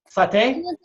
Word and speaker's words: sauté: How do you say it? Sauté? Yeah, there you go.